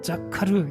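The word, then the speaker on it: זכר: 여러분, 여기에서 사용된 생각하다라는 말은 히브리 발음으로 자카르, 이렇게 발음을 합니다.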